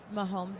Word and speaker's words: Mahomes: You see how Mahomes is over there? Is that how you pronounce his last name? Patrick Mahomes.